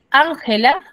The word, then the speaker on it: Ángela: la cómo lo pronunciaría Cómo pronuncio si la mayor fuerza de voz recae en la última sílaba Ángela cómo lo pronuncio chicos si la mayor fuerza de voz recae en la sílaba la Ángela Ángela tiene sentido no no tiene sentido no tener sentido yo